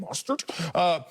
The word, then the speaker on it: Mostert: How you say it? Mostert? Mustard on the beat, bro.